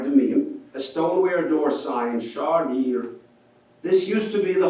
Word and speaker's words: Shrayer: So in Israel, our branch became Shrayer, not Shrayer. And of course, without vowels, it's spelled virtually the same.